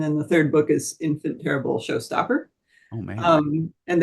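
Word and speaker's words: Enfant Terrible: I I pronounce it infant terrible it's spelled the French way um and it's a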